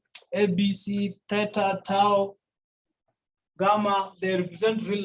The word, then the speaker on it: theta: this is a greek the greek letter it's pronounced as theta this was not zero it's theta yeah i remember in the instructions i told you that all the letters x y abc theta tau gamma they represent real numbers so this